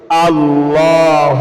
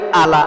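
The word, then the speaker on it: على: আল্লাহ আল্লাহুম্মা সাল্লি আলা অনেকে বলে আলা আলা বললে হবে না এটা হামজা হামজা নয় আইন বলা আমাদের চাপ দিতে হবে হামজার উচ্চারণ হল কি শুরু থেকে আর আইনের উচ্চারণ হল কি মাঝখান থেকে চাপ দিতে হবে আলা আল্লাহুম্মা সাল্লি আলা মুহাম্মাদিনিন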